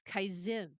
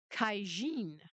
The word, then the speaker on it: Caixin: I'm assuming that is Kaizen. It's spelled Caixin. If if Sheen? Xi is Xi, then maybe this is Kaijin.